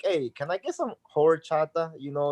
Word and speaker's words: horchata: And it's rice water in Spanish, but a lot of people can't pronounce horchata, especially if they don't speak Spanish. They pronounce it more like horchata, right? Like emphasis on the whore, which is every time